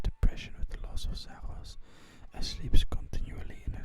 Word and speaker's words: Zaros: Zaros, pronounced Zaros, is the god of fate and control,